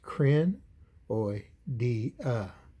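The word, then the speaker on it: Crinoidea: of C life known as cranoidia and that's pronounced krin oi di uh spelled c-r-i-n-o-i-d-e-a biologists considered a crinoids to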